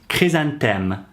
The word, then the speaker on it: chrysanthème: The flower chrysanthemum, pronounced chrysanthème, le chrysanthème in French, is really associated with this festival.